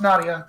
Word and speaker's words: Nerija: Yeah, it's like a Lithuanian way where it's spelled with an R. Like Nerija. Like it actually is pronounced Nadia, but it's...